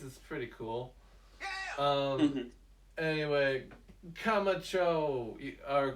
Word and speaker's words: Camacho: pretty cool um anyway kamacho is that how you say it camacho that's right camacho's camacho uh he's